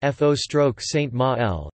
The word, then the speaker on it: føroyskt mál: Faroese, Faroese, Faroist Mal, pronounced F-O stroke Saint Ma-L, is a North Germanic language spoken as a